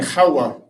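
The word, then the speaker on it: חוה: In the Hebrew it's Adam and Kawwa.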